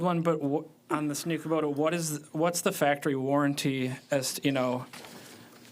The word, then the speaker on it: Kubota: And what was the proper way to say that? Kubota. Kubota? Kubota, yeah.